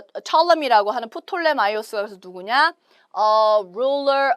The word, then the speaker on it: Ptolemy: 자, 영어로는 Ptolemy라고 발음을 하지만 한국 이제 번역된 역사책에 보시면 프톨레마이오스라고 아마 나올 거예요.